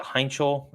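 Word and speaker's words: Heintschel: It Heinchel? Is that how you Mason pronounce it? Heinchel. Correct. Yeah, sounds like a very, very astute German name.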